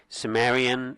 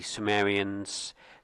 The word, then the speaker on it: Cimmerian: I'm going to say Samrian, which is what we say apparently in French and English uh in the Greek and Latin. I think it's more of a K sound.